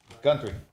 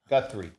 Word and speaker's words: Guthrie: Do you need me to spell it? Gunry. Guthrie.